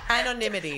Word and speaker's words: anonymity: of Twitter literally pushes it's also like anemy oh my God anity anity got there in the end my anonity said it twice amazing I still actually think you said it wrong anonymity anonymity yeah an enemy an enemy